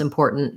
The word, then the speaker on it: important: do the t sounds so first syllable is unstressed and then the stress is on the poor syllable um so and then we have that or vowel just make sure that you're gliding into the tight back er or so i would